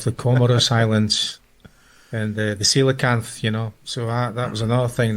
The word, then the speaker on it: coelacanth: I can't pronounce it. What is it? The coelacanth.